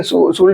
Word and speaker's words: should: इसको वैसे बोलोगे तो शुड पढ़ोगे लेकिन शुड नहीं होता। यहां पे जो होता है एल हमारा ये दोनों क्या होता है बच्चों? साइलेंट होता है। ये शुड में भी और वुड में। ये दोनों एल हमारा क्या हो जाता है बच्चों? साइलेंट। ये हमारा क्या है बच्चों? साइलेंट है। मतलब ये लिखा जाता है लेकिन इसको बोला नहीं जाता है।